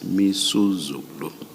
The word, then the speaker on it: Misuzulu: I mispronounced the king's name. It's Misuzulu.